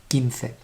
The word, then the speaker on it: quince: Don't try to read it quince. It's a K sound at the beginning, quince.